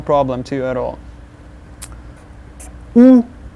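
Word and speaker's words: у: U, u, u. Just like o, but with a smaller hole that you make with your mouth.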